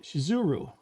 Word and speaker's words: Shizuru: name of the Goddess is actually spelled and pronounced uh shizuru or that the misspelling